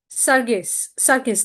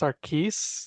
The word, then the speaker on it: Sargis: Sargis, that's how you pronounce it, right? Actually, it's pronounced Sarkis. Think of Sarkis. the G as a K, but it's okay.